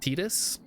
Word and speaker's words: Titus: And some people are gonna crucify me for saying that his name this way. Titus? It's pronounced Titus.